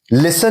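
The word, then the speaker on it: listen: में के साइलेंट है लिसन में टी साइलेंट है हम कहते हैं लिसन हम ये नहीं कहते कि लिसन लिसन ठीक है? हम लिसन नहीं कहते। हम कहते हैं लिसन। तो हम लिसन कहते हैं। ये टी साइलेंट है यहां पे।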